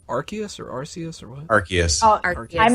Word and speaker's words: Arceus: Yeah, some I of still the don't know how to pronounce that. legendaries. Is Arceus or Arceus or what? Arceus.